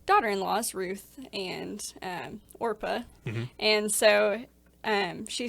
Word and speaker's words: Orpah: So there is a famine in a land, and these 3 women, Naomi, and then Orpah, is that how you say it? Orpah, yeah. Orpah. And Not then, Oprah. Not Oprah.